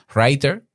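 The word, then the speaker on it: Rytr: Espero que este tema te haya servido, que puedas utilizar, si quieres utilizar lo que yo utilizo, te repito, Writer, se escribe R-Y-T-R, Auphonic con la inteligencia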